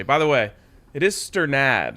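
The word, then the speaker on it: Strnad: it right this is i think wake forest had a astronaut on its pronunciation guide and the broncos have it as stern ad yes so i'm going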